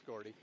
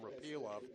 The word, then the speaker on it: Repilov: But then I heard the Russian commentator last year at the Worlds call him Repilov. Okay. So who am I to argue, right? Yeah, then I should correct my pronunciation.